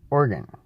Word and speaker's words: Oregon: Well, everybody probably knows that it's pronounced Organ, right? Just organ. Like you have organs in your body. There's this thing that's kind of like an electric piano. It's called an organ, just like that.